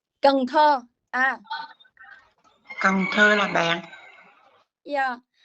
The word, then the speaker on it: Cần Thơ: I'm sorry, can you pronounce that name, please? Canto. Cần Thơ.